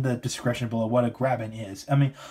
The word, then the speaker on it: graben: So you have, it's kind of a weird name, but this is called Mugen Graben. Now, the Graben not as in grabbing stuff, but There's actually a geological term for, graben, which is spelled G-R-A-B-E-N.